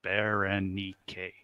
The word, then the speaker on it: Berenike: 4 syllables. 4 syllables. Berenike. Berenike.